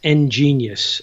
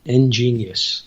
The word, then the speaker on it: Ngenius: That's a little bit harder to spell, but that's Ngenius, and it's spelled N and then gene, like gene splicing, Geneys, Ngenius, and not that I'm ingenious or anything, but I used to have this old mechanical book.